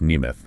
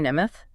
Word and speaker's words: Nemeth: And that's pronounced Neimoth, right? That's right. Johnny Nemoth.